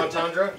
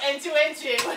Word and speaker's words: entendre: Double entendre? Yeah, entendre. Is that what you're trying to say? Yes, because he said something, and I'm like, oh, that's a double entuentu. It was supposed to be entendre.